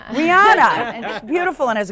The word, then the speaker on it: Rihanna: I don't even know how do you pronounce her name? Rihanna. Rihanna, and she's beautiful and has a gorgeous.